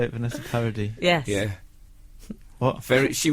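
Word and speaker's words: Vanessa Paradis: uh very is that how you say it Vanessa parody yes yeah what very she was very I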